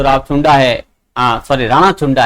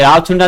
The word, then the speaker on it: राणा चुंडा: राणा चुंडा है वो, ये राव चुंडा नहीं, ध्यान रखे राणा चुंडा है, ये बार बार जो है राव चुंडा का उच्चारण हो जाता है, आप उसको राणा चुंडा जो है माने।